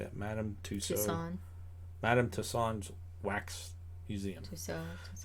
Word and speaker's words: Madame Tussauds: Madame Tussauds.